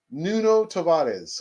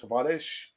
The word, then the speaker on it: Tavares: not seen the news nuno tavares or the portuguese pronunciation i think it's tavarish but a pharah will